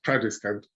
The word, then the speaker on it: Tradescant: That's in trad jazz, so it's Tradescant.